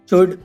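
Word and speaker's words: should: शुड, वुड, कुड, इन सब में भी एल साइलेंट है।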